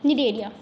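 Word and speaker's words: Cnidaria: मैं लेके आती हूँ, अरे अरे कहाँ गया हमारा, देखो निडेरिया, ध्यान से देखो, NIDARIA निडेरिया, सी साइलेंट है। जैसे कि ऑनेस्ट में एच होता है ना साइलेंट, वैसे यहाँ पे निडेरिया में हमारा सी साइलेंट है।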